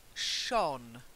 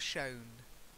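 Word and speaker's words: shone: it's like fire okay then Shawn not shown to shine Shawn its Shawn Shawn Shawn Shawn Shawn shorter than not Shawn otherwise if you take if you make it too long it sounds like Shawn as in Shaun the Sheep okay so Shawn Shawn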